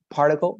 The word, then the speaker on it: particle: Particle, remember that it's particle, as if you were saying parque, particle.